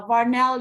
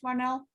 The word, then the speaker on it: Marnell: on my screen uh varnell you would be the next one did i pronounce your name right marnell oh yes that's how you pronounce my name good morning how you